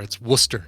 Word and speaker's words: Worcester: to pronounce it correctly you don't even pronounce the r it's worcester it's just worcester and worcester in massachusetts but in the uk i believe it is pronounced wurster and i think that's